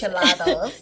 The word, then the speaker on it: enchilados: Enchilados. Yeah. Okay. Enchilados. Tell me about that. You have all kinds of flavors. Yes. I have to say it right. Dulce. In enchilado, like enchiladas, okay. but enchilados.